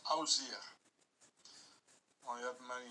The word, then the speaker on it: Osiris: The name of Osiris was pronounced Ozir.